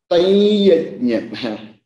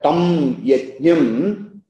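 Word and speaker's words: तं यज्ञं: So it becomes taiyajnyam. So we should not expect children to, you know, learn, understand this, but for our understanding, so that tam yajnyam is perfectly okay. But there is an optional prayoga as the tam anuswara change into anunasika. Anunasika nasal. So it becomes tayajnyam, tayajnyam vidhi rajasam. That nasal sound comes there.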